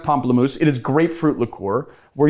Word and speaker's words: Pamplemousse: I pronounced that because I looked up the pronunciation because I was calling it Pamplemousse before which I guess is a Americanized version of Pomplamoose right I don't know it is pronounced Pomplamoose it is grapefruit liqueur we're using the combi